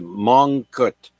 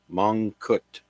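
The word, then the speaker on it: Mongkut: for me but the first person's name is mut that's spelled m o n g k u t mut and he was born today in 1804 now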